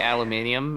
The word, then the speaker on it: aluminium: They got that thing where the British say aluminium, even though that's not it.